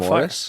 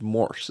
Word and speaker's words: Morse: you saying over a Morris? fire. Is it pronounced Morse code? I said it's Morris, is it not? Morr. It's just Morse, isn't it?